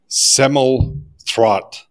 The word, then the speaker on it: Semmelroth: Today we have with us Stephen Semmelroth. Did I pronounce it correctly?